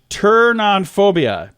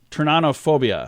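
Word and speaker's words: pteronophobia: turn on o phobia apparently it is the P is silent that is so weird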